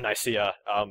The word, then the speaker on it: Nicaea: So yeah, it's always been Nicaea. Everyone who thought it was Nicaea, you've been wrong all these years.